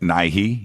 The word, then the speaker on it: Nighy: I guess it was produced in England, but Bill Nighy, is that how you pronounce his name? Yep, Nighy, yep.